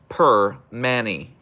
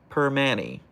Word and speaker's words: Primanti: It's pronounced per Manny. per Manny You go there, you order a cap and egg and an Iron City.